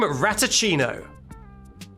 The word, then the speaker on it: Ratachino: I'm Ratachino. Like a cappuccino, but made of rat. I'm Ratachino.